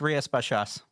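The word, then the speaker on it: Rías Baixas: It's Ria Spashas.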